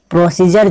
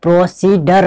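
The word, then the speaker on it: procedure: प्रोसीजर हम लिखते कहीं हैं, प्रोसीजर जो है इसको हम प्रोसीडर नहीं पढ़ना है। खासकर स्टूडेंट जो पढ़ते हैं वो क्या पढ़ते हैं, प्रोसीडर पढ़ते हैं। ऐसा गलत है, क्योंकि इसको जो उच्चारण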